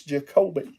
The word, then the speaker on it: Jacobe: saying your name wrong finally somebody said it's not what I was saying it's jacobe so jacobe it's the